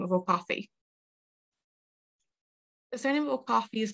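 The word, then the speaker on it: Cobhthaigh: the anglicized version of the irish name coffee which is spelt c-o-b-h-t-h-a-i-g-h which is definitely different way to how we spell it today the irish version translates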